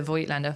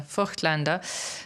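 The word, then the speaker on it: Voigtländer: forward to trying the the vo Lander for Lander uh for those who want us to pronounce it correctly on this camera to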